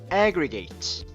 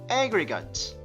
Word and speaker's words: aggregate: 저희가 동사일 때는 제가 아까 aggregate 이렇게 읽었었는데요. 이게 명사가 될 때 혹은 형용사가 될 때는요 aggregate 이렇게 읽어줍니다. 앞에 있는 강세가 조금 더 진해지면서 뒤에 있는 거를 조금 더 먹어버리는 거죠.